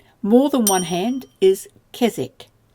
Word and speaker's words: kezek: More than one hand is kezek. So the E shortens from E to E, and the Z then comes on to the second syllable.